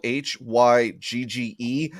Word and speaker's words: hygge: It says the word is spelled Hygge. I'm going to say higgy.